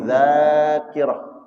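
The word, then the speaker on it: ذاكرة: artinya kuat qawiyuz dza dza dibaca dza fathah dan ada alif kawiyuz dzakirah ini orang qawiyuz dzakirah kuat hafalannya seperti Imam Syafi'i. Tapi kalau salah baca zakirah dibacanya zakar artinya apa?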